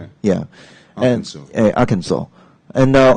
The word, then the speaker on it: Arkansas: how to say this I used to say uh Kansas okay I think many people do yeah but actually it's very strange Arkansas yeah Arkansas really yeah Arkansas and the stress is